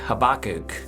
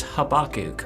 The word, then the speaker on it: Habakkuk: But anyway, it's Habakkuk, or at least that's my understanding of how his name is pronounced.